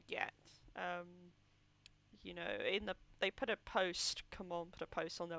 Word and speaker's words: CMON: They pronounce it as CMON, but I can't bring myself to do it. CMON doesn't sound good at all. No. I'd rather do it wrong and say come on.